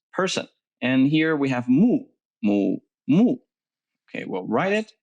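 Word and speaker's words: 木: okay so means person and here we have mu mu okay well write it mu it means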